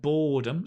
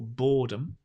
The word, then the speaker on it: boredom: the noun boredom right boredom stress on the first syllable boredom there's a lot of